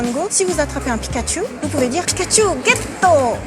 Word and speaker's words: Pikachu: Satoshi mais plus dur Pikachu en France on aurait tendance à dire Pikachu ou Pikachu Pikachu il faut allonger Pikachu pour l'anecdote quel est